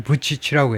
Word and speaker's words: Vučić: 이 세르비아 이쪽 언어로는 무슨 Vučić인가 뭐 그렇게 발음하지만 최소한 잉글리시 스피커들한테는요, 영어권에서는 이 발음을 부치치라고 해요.